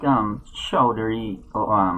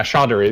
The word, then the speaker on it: Chaudhary: Sorry, I don't really know how to pronounce Indian names, but it's like Chaudhary, I believe, is how you pronounce that. And something like that. I think it's like Chowdhury. Yeah, Chaudhary. That sounds right.